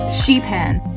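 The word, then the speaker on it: Šipan: our first island was Sipan and it is actually the largest of the LFE islands in Croatia I hope I'm pronouncing that right and I googled it and it's actually pronounced sheep hen and how could you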